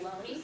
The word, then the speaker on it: Looney: In 1920, a man named Loney, it's spelled Looney, but it's pronounced Loney, poor guy.